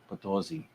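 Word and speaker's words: San Luis Potosí: San Luis Potosi.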